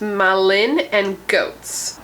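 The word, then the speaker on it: Malin+Goetz: Okay, so this is from the brand, I believe is pronounced Malin and Goats.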